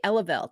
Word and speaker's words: Eleveld: If someone asked me how to pronounce it, I would say Eleveld, not Eleveld, not not Eleveld.